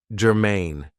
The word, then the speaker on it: germane: Now, this is 2 syllables, and the stress is on the second syllable, germane.